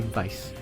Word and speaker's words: Weiss: I'm just gonna say Weiss, because that's how they pronounce it. That's how they pronounce it in the game, yeah.